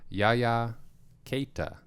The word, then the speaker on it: Yaya Keita: Yaya Keita is how they pronounced it on the broadcast.